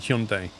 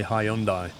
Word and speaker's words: Hyundai: Well, advertising has tried to re retrain users into saying Hyundai, but traditionally people say Hyundai, including the main dealers themselves.